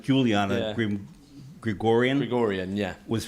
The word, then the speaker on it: Juliana: pronounced Juliana Yeah.